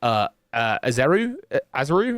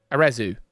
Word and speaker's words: Arezu: The hairdresser, who obviously is Azaru, am I saying it right? Arezu, that's it.